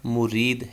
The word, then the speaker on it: مُرِید: پر بیعت کرنے والا، اور یہ صحیح تلفظ اس کا مرید ہے، میم پہ پیش اور را کے نیچے زیر۔ علامہ اقبال رحمہ اللہ